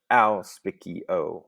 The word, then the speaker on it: auspicio: this word for me auspicio notice not a u but al spiky-o okay there's four syllables which means that we